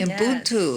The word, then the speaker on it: Ubuntu: In an earlier conversation, we talked about, and you're going to have to help me with the pronunciation with this one, Ubuntu. Very good. Ubuntu.